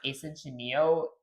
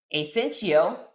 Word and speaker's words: asyncio: By the way, it's not pronounced asentio. It's essential, which is short for asynchron asynchronous meaning doing more than one thing at once.